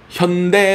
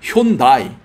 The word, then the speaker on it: 현대: 처음 진출할 때 현대차 현대 라고 발음도 안했습니다 그냥 횬 바이 일본 찬 줄 알고